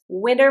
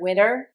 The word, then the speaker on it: winter: Notice when I pronounced the word winter, I am very quiet on the T. The T almost sounds like a D.